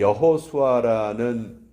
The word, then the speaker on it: 여호수아: 그런데 이 여호수아라는 이 이름은 히브리식 발음이에요. 히브리식 발음이고 이게 헬라식 발음으로 바뀌면 우리가 너무도 잘 아는 예수라는 그 발음이 되는 것이죠.